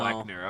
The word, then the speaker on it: Kleckner: He says the O is silent in Kleckner. Okay. Oh, it is silent. Oh, for That's good to Jameson know. Kleckner.